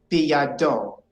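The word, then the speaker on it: בידו: Now, I'm here to tell you that most of the time, the accent falls on the last syllable of our Hebrew words. So it would be biyado.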